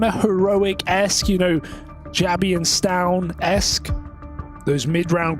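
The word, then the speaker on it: Jabbi: jabby I just say yabby yeah I like to do that as well because Jay isn't pronouncing a lot of languages like it's pronounced with a Y you know in a lot of languages like you that word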